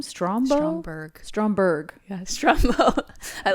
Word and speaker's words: Stromberg: do you say the villain's name strom strongberg stromberg yes drama i like i like strombo no